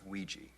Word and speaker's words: Ouija: It's pronounced Ouija, not Ouija. It comes from the French and German words for yes.